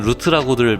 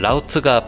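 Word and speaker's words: route: 여기서 라우트는 보통 영어 스펠링대로면 루트라고들 많이 읽지만 미식 축구에서만큼은 라우트가 풋자랄 발음이니까 주의하셔야 됩니다.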